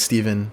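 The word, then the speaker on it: Stephan: people who create them my name's steven but it's spelt stefan with a ph in an a but we say steven join me of course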